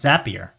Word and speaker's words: Zapier: It's pronounced Zapier, like happier.